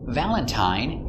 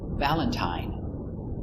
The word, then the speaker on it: Valentine: one of three sounds Valentine uses a long I the same as mine Valentine Valentine but sometimes it's pronounced